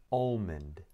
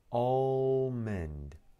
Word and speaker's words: almond: Almond. Almond. بعض الناس ينطقونها بدون L.